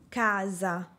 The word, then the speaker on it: casa: Una sola (letra) "S", en este caso entre dos vocales, se convierte en un sonido sonoro, que se asemeja al (sonido) de una "Z". La letra "A" que precede a la "S" se alarga.